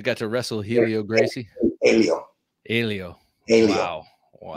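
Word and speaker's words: Hélio: Helio. Wow. Yes, that's how you pronounce it, Helio.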